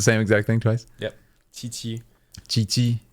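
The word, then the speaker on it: Qiqi: exact thing twice yep Chi chii but it's like the with a like a t mhm not like a t like a very thin CH that said instead of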